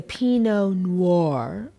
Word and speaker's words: Pinot Noir: that's why I picked it and it's a Pinot Noir say it like that a pinot noir bread